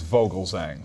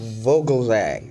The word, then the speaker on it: Vogelzang: folks thank you richard my last name is vogelsang vogelzang okay very good now adam let's get right